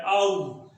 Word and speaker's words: hour: तो ये जो इसका जो प्रोनाउंसिएशन है, उच्चारण है, जो आउ से शुरू है, आउ, तो इसलिए आ जो है वो एक वॉवल साउंड है, इसलिए इसमें एन आ जाएगा। फॉर हाफ एन आउ।